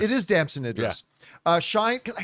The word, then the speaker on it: Damson Idris: Brad Pitt and how do you pronounce the name? Damson Idris. It is Damson Idris.